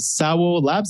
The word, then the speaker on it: SAWO Labs: it i just want to understand is it sour labs is that like pronouncing it properly just before we get into